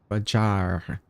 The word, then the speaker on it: Fajar: Fajar. Fajar. I'm going to roll the R.